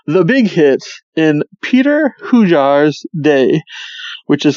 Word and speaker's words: Hujar: It was fine then, but like it's Hujar. Like, how do you think it's spelled?